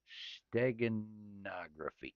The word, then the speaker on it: steganography: It says, are you talking about steganography? Steganography, because stenography is just writing in shorthand. Correct. Steganography. That he corrected me there.